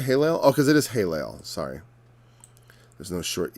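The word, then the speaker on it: Helel: a long a like in italian e is pronounced a i is pronounced e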